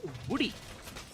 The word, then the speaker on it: Woody: And talking about the player here from the castle on the side of Oblivion Esports, I believe it's pronounced as Woody. Woody as in woodpecker.